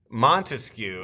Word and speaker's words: Montesquieu: Obviously, I'm not your English teacher, but he clearly has 3 syllables in his name.